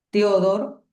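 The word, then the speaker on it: Theodor: Y el segundo en línea que podemos decir es Teodor, si como suena con H intercalada después de la T.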